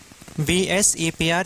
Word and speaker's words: VSEPR: VSEPR theory. You have to abbreviate or you have to pronounce it as VSEPR theory only, because in